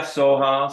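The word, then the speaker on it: svaha: monks pronounce this word we see it as s-v-a-h-a they don't go Savannah they go SWA and you can also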